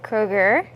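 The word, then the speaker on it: Kroeger: so stay tuned well Avril Lavigne and Chad Kroger did I say that right you did okay good I'm the worst of pronouncing names um they tied the knot apparently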